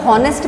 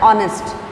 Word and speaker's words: honest: नहीं हो रहा है, बट HONEST आ रहा है, लेकिन इसे हम इसे हॉनेस्ट प्रोनाउंस नहीं कर रहे हैं, हम इसे हम प्रोनाउंस करते हैं ऑनेस्ट, मीन्स साउंड आ रहा है ओ का, और ओ क्या है?